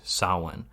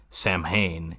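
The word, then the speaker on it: Samhain: pronounced the word correct he pronounced the word correctly Sawan Donald Pleasence in Halloween 2 looks at that word written on a chalkboard and it's like Sam Hayne and it's like no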